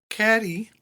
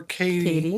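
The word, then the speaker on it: Cady: So when we come into it, Caddy or Katie if you want to say her name like you're nasty.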